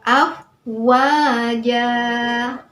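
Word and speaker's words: أَفْوَاجًا: Wa, apa hukum bacaannya? Ya, mat tabi'i juga. Kenapa? Karena ada fathah diikuti alif, sehingga cara membacanya juga di ayun 2 harokat. Afwaja.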